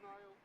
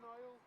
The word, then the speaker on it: Niall: Yeah, Neil Niall. It's spelled Niall. Neil or Niall.